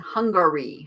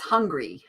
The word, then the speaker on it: Hungary: souvenir from budapest hungry there's a hungary hungary gotta gotta put that other syllable in there otherwise it's just hungry i have ten